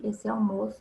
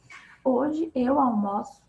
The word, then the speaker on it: almoço: Hoje eu almoço com você. Então, aqui ele já vira um verbo e muda a pronúncia. O almoço e eu almoço. Mudou a pronúncia.